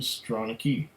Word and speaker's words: Stronachie: Stronachie, Gaelic for prominent nose, headland in the valley, pronunciation Stronachie.